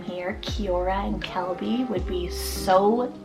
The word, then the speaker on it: Kiora: We then have the name Kiora, spelled K-I-O-R-A, Kiora.